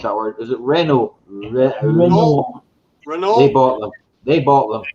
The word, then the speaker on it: Renault: Well, Vauxhall went up for auction, and Peugeot and I can't even pronounce that word. Is it Renault?